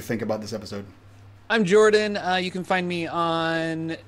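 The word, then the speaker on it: Jorphdan: I'm Jordan.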